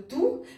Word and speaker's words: tous: Значит, все у нас опять здесь будет выступать в качестве прилагательного, соответственно, S в конце не читаем. Пришло время поделиться моим лайфхаком по поводу ту, которая является прилагательным.